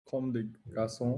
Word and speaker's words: Comme des Garçons: How do you Like yeah, pronounce that? Comme des garçons.